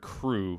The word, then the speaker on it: krewe: that is associated and they spell it k-r-e-w-e I don't know why they spelled and it's it's it's meant to be the word crew like c-r-e-w like a crew of people I don't know why